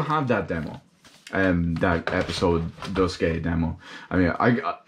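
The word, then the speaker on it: Duscae: That Episode Dusky demo. I mean, I pronounce it Dusky simply because the AE is usually pronounced as a Y sound. So it makes sense to me, damn it.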